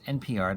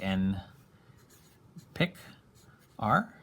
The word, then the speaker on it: nPr: big p and a little r so it's npr that's how we write a permutation um the way it's pronounced is kind of what i just said